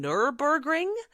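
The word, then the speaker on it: Nürburgring: So this is where I'm going to really butcher the pronunciation. Nurburgring? Yeah, Nurburgring?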